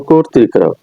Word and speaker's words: কর্তৃক: উচ্চারণ সাধারণত ওকারের মত বা সংগৃহিত হয় যেমন কর্তৃক আমরা উচ্চারণ সময় বলি কর ত্রিকারক কর ঋকারটা আমার